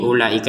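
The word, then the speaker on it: أولئك: Di sini ulaika perhatikan kata ulaika ini kan ada wau di sini ya. Ya kan perhatikan ada wau. Tapi kan wunnya tidak ada tanda sukun di sini. Nah, tidak ada tanda sukunnya. Maka waunya tidak dibaca dengan panjang. Nah, maka domahnya tidak dibaca dengan panjang. Damah berfungsi dibaca panjang ketemu wau. Kalau waunya ada tanda suuk kun. Kalau enggak ada tanda sukunnya ya seperti ini. Ini ulaika ini maka tidak dibaca panjang.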